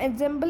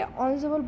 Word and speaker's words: ensemble: अब एंसेम्बल क्या होता है ये भी लिखा हुआ है, प्रोनाउंस एज ensemble, तो इसको हम एंसेम्बल नहीं बोलेंगे, ensemble बोलेंगे, आई एम सॉरी।